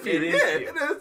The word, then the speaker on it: Pugh: It is, in fact, Pugh. It is Pugh. Because I literally watched her pronounce her name because I didn't know.